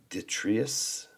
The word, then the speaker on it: detritus: In modern times, due to the ground level rising over the centuries with each generation's detritus, how do you pronounce that?